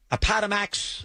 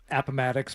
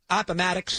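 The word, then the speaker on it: Appomattox: Apatamax. I think I pronounced it right. Appamatics, but close enough. Fine. That's another thing is that he mispronounces stuff and rolls with it, which I love because like people, oh, you mispronounced it. Like, all right, human being. Aadamax. I think I pronounced it right. Appamatics. That's correct.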